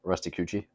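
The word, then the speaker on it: Rusticucci: Yes, and the next canto, Canto 16, involves Guido Guerra, Aldo Brandy, and Rusty Cucci. Oh, good pronunciation. Hopefully. I know I got Cucci right. Two C's make a ch sound, but anyways, I digress.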